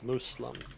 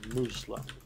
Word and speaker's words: Muslim: can get I believe I believe the Arabic pronunciation is supposed to be Muslim mm-hmm with an S Muslim and then as you as you pointed out the English is sorry look yeah but then I would mispronounce it because I would say Muslim like with a Z instead of a mass so I was kind